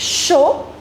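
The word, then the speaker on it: chaud: In French we do not pronounce the last consonant. So d would be silent. It's show.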